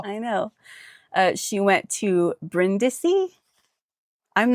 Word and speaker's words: Brindisi: She went to Brindisi. I'm not even sure where that is. What is it? Brindisi. England, France, Brindisi. Italy. Okay, it's in Italy. Brindisi? Is it? Do you say Brindisi? Oh, probably Brindisi.